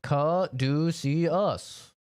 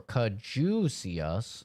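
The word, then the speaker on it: caduceus: Uh, the word kaduciius is pronounced kadus or kadus if you're in the UK.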